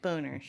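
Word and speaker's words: Bonerz: n e RZ that's how you say it boners right boners yes and you pointed out that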